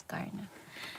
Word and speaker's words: CRNA: Ang tawag namin, pronunciation namin is CARNA.